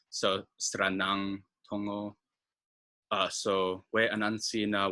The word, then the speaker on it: Sranan: The one thing to watch out for is that final N is pronounced as a NG, like a sound. So Sranan, Tongo.